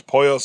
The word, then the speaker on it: Pollos: Now, then Mike sends Jimmy to Los Pollos Hermanos. I think I pronounced it Polos last time, but it's Pollos.